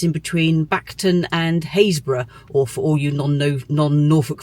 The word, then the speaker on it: Happisburgh: in between Bacton and Haysborough, or for all you non-Norfolk folk, Happisburgh. You can look it up and see why, one of our strange Norfolk pronunciations.